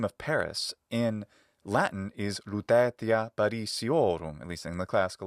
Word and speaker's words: Lutetia Parisiorum: In fact, the name of Paris in Latin is Lutetia Parisiorum, at least in the classical Latin pronunciation, Lutetia Parisiorum, in a more ecclesiastical pronunciation.